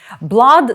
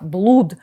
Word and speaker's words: blood: tissue кров і тканини Blood - це кров будь ласка щоб мені не було за вас соромно не вимовляйте це слово як блуд попри подвійну оу у цьому слові звучить звук а artery артерія vein Вена